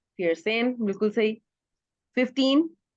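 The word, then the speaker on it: vierzehn: Fair सन। फिर सेन, बिल्कुल सही।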